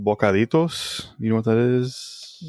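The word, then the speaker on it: bocaditos: It's called bokaritoss. You know what that is? Nope. Dang. Spell it for me.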